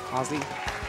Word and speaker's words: Aussie: It's pronounced Aussie. Did I get it right? Aussie?